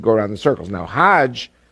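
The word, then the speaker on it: حج: around the circles now Hajj is a pilgrim to Mecca hag is the Egyptian pronunciation haug in Hebrew means a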